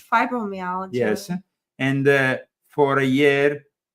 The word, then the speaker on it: fibromyalgia: It's fibromyalgia.